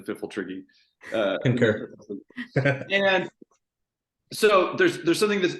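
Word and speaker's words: Pfifltriggi: I definitely am in the firm camp that is a silent P at the beginning of the Fiffletriggi.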